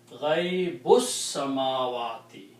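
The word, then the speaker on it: غيب السماوات: But when you read them together, you do not pronounce this alif here. It is Ghaibus samawati.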